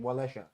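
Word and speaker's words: Wałęsa: Oh, Lech Wales. Okay. How many? Oh, yeah, well, it's you spell Walesha. Is that right? How many? Oh, yeah, because of their pronunciation, Walesha. How many?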